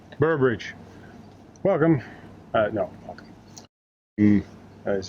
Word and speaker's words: Boroughbridge: afternoon we are back in bower bridge i said it wrong good night burbridge welcome uh no welcome